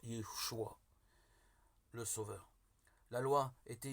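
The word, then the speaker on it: ישוע: Jésus en hébreu se prononce Yeshua, le Sauveur.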